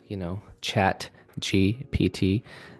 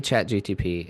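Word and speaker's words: ChatGPT: I just went to, Chat GPT, and There it I is. say it wrong all the time, but I won't admit it. I went to Chat GTP and Oh, you just did it wrong.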